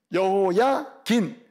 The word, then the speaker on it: 여호야긴: 이 여호야김, 이게 18대 왕. 여호야긴, 김이 아니고 긴. 여호야김, 여호야긴.